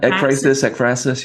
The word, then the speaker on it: ekphrasis: Apraxis. Is that how you say it? Ekphrasis, Ekphrasis.